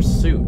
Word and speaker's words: Suite: be smart you know how do you say sweet or soup is it sweet or soup I'm gonna look it up pronunciation in English that was sweet okay I was saying